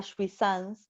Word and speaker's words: jouissance: El goce, lo que nosotros llamamos el goce tradicional nuestro, por decirlo de alguna manera, ellos lo llaman jouissance, que se escribe J-O-U-I-S-S-A-N-C-E, jouissance.